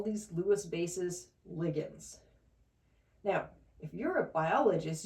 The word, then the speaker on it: ligand: you may be thinking, "Hey, that's not how I pronounce that word. I call it a liant." And you would be right. I I don't know why biologists and chemists pronounce this differently, but as chemists, we call these things lians.